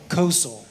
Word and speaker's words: Kosel: Kosel. I've been called a lot of things, but that's how you pronounce it, Kosel. Okay. So like like coastal without the T.